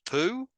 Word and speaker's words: POU: My POU, poison once used, pronounced poo.